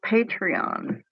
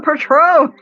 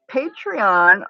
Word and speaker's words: Patreon: Yes, get Patreon. Patreon? Am I saying it right? I keep wanting to say Patron. Get some Patron.